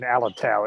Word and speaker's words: Alotau: First of which is Papua New Guinea, a clash between criminal gangs in Alotoba. Paul, would you like to elaborate on this? Yeah, the clash in Alotau, it's pronounced Bhargav, it's a town or residential area